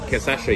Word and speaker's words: cachaça: So cachaça, yeah? So how do you pronounce it?